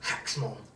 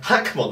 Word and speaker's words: Hackmon: Hacksmon. Apparently, because in Japanese it's Hackmon, apparently it's a reference to Huckleberry Finn. It's so fucking random. Okay. I think Hackmon makes a lot more